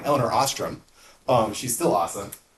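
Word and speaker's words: Elinor Ostrom: Um, well, there's an economist, actually the first woman to ever win the Nobel Prize named Elellanar Auster. She's awesome. Um, and I got her name wrong, Elellanar Austramm.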